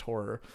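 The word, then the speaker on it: HO99O9: name for ho9 909 stylized but it's pronounced horror and they make scary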